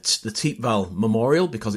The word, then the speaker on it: Thiepval: as Matt just just said um it's the te Val Memorial because it's on the te valal Ridge uh notice the pronunciation it looks like th Val um but it's actually pronounced T valal here um it's a memorial to the missing